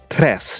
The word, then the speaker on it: tres: on to contingency plan numero tres, motherfucker, or tres if you gotta roll your R's when you're speaking Spanish. Ugh, come on, dang it, come on.